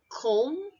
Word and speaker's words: comb: choose next three words comb silent B tum silently bomb silent B okay so it's comb